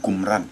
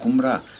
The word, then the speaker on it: Kumra: Donc, Qumra, phonétiquement, s'écrit avec K-U-M-R-A. Qumra.